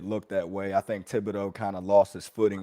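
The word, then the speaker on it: Thibodeaux: It's a pretty big topic right now across social media and the NFL after what happened to, I might be mispronouncing it. Is it Thibodeau? Thibodeau, yep.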